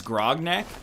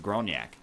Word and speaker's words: Grognak: a god of agility it's grognak no he's French it's pronounced gronak like you know he's